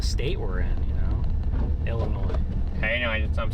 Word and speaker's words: Illinois: The guy that founded Washington, Illinois has 21 kids. Illinois. You got to know how to pronounce the state we're in, you know? Illinois.